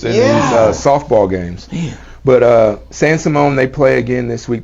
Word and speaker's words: San Simon: San Simone. Simone, that's right. San I Simone. was like, I didn't feel like I was saying it right. Dude, I thought it was It didn't feel Simeon.